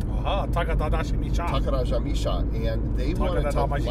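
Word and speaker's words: Takarajimasha: Now I can pronounce it, Takarajamisha. Aha, Takarajamisha.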